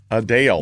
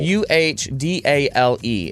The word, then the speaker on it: Adele: Adele. Uhdale is how you pronounce it.